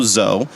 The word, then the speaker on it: DZO: So we are Studio Zoe. DZO is how most people read it, but the D is silent.